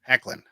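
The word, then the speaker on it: Hoechlin: he wasn't in it but uh no uh pronounce his name again Tyler heckin heckin okay uh heckin has told Entertainment Weekly that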